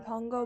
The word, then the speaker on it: Pango: I like resold the Haunted Adeline series for like $18 for both of them on Pongo Books. So, or Pango, I think it's pronounced Pango Books.